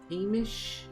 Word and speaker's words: Hamish: Hamish, like Hamlin, but ish.